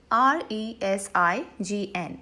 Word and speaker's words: resign: There is z sound in this word, whereas resign with a